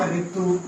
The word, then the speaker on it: ऋतु: तो इसका अर्थ कैसे निकालता है, री में, इसका बोलने में उच्चारण कैसा होता है, री। जैसे आप बोले, आप इसके कुछ ही शब्द मिलते हैं हिंदी में, जैसे कि ऋतु लिखेंगे तो इस तरह से लिखते हैं ना हम, ऋतु। अब आप उच्चारण कीजिए ऋतु, तो फिर आगे क्या बोल रहा है, ऋतु। तो ऋषि का उच्चारण क्या हुआ, री हुआ ना, री।